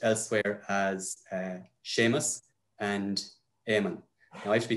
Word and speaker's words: Éamonn: Yeah, Séamus and Éamonn. Yeah. Now it's not harder than E fada. Yeah. It's like you're saying Éamonn or something like that. You're putting an emphasis on the second.